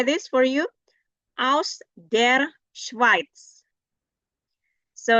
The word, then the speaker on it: Schweiz: Aus der Schweiz. So if you find the letters E next to I, then you pronounce it I. Not A, but I. Aus der Schweiz. Schweiz, not Schweiz, but Schweiz.